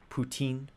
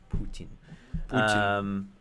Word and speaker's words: Putin: Putin. I don't know how to pronounce his name. Putin. Putin. Like poutine, but not Canadian. Canadian. More Russian.